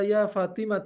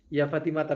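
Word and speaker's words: يا فاطمةَ: Keliru ya. Ya Fatimata betul.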